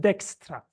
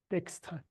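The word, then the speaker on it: Dijkstra: is Flemish and apparently his name should be pronounced Dextra Dextra.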